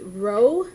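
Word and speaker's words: ρ: slanted or cursive almost this letter is pronounced Row from the Greek alphabet and so it's a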